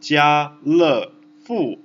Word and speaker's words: 家乐福: In Chinese, it's called Jia Le Fu. Jia Le Fu. Which is just like to resemble the French pronunciation Carrefour, Jia Le Fu, and it means nothing else than happy. Le means happy, Jia means family, and Fu means lucky.